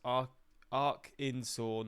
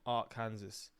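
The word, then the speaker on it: Arkansas: of Alabama it's the type of woodpecker it's pronounced AR Arc insa not Arc Kansas bro fuman man it's funny to see that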